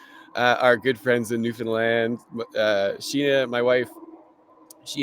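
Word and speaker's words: Newfoundland: for our inspiration uh our good friends in New Finland uh Sheena my wife she has family that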